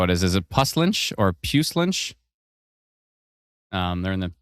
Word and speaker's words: Puslinch: Kate says Puslinch.